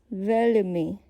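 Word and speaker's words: veľmi: If you listen to the word, it's pronounced as velmi with a soft L, almost as if you listen to, let's say, Arabic speakers with their accent they have with L.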